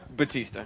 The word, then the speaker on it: Bautista: Some people know Dave Bautista as Batista. Right. Bautista. How do you pronounce it? Batista. Oh, okay. Batista.